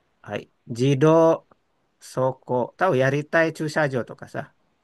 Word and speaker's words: 立体: wa korene ritai. Ini bacanya ritai. 立体。 Hai, bukan Ritai Effendi ya. Ritai, うん。 T-nya dua. Ritai.